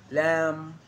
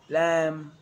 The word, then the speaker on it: lamb: It's always silent when it follows the letter M. Climb, crumb, lamb, thumb, dumb, and plumber. So practice them with me. I am not pronouncing the B, I am just pronouncing the M consonant sound.